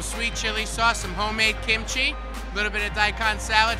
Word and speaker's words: kimchi: in the flavor town do you know where kamichi is from it's actually pronounced kimchi young Bryce let's talk a little bit about